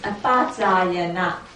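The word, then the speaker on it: apacāyana: Yeah, in Pali pronunciation is apacayana. Apacayana. Apasayana. Yes, apasayana means pay respect to those deserve of respect.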